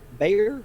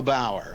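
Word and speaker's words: Bauer: What is your opinion of the works of Bruno uh Bayer I believe is his name. And he says in um I'm sorry. Could you spell the last name? B A R. Oh, Bruno Bower.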